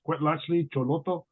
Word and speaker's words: Cuetlachtli Xolotl: So yeah, my name is pronounced Cuetlachtli Xolotl. It's okay to mispronounce it. It is old language, Nahuatl.